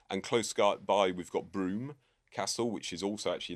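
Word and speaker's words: Brougham: close by we've got Broome Castle, which is also actually in the corner of a Roman fort and is not spelt like how it's pronounced.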